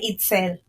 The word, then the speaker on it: Itzel: Sí, mi nombre se pronuncia Itzel.